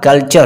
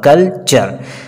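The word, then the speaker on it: culture: भी सकते हैं कि अगर टी शब्द के बाद टी आई ओ एन या यू आर ई तो वहां पर टी का जो उच्चारण होगा च का होगा।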